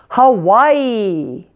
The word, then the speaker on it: Hawaii: ja ja ja Georgia Hawaii most people's favorite state now the middle syllable has the primary stress and we pronounce it like the word why notice how why Hawaii